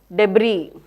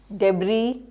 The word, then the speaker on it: debris: Most common words are words like receipt, words like debris. So here the last syllables are not stressed. So receipt, debris, you will find that are the most commonly mispronounced words.